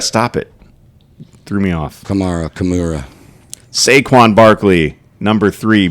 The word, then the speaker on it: Kamara: name who camra stop it threw me off Kamara CA saquan Barkley number three Bree Hall number